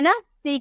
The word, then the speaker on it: niece: NIECE, आपको सी के बाद ई नजर आ रहा है ना, सी के बाद ई, यहाँ पे हम बोले थे ना ई, सी के बाद ई नजर आ रहा है, तो इसे स में प्रोनाउंस करेंगे, बोलेंगे नीस, नीस, NIECE, नीस।